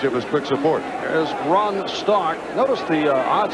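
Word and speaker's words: Rohn: What a punt for Ron, spell it R-O-H-N, Stark.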